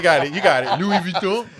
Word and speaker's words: Louis Vuitton: Louis Vuitton, right?